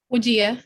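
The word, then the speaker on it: Wajiha: Wajea or Wajeha? Wajia, that's correct.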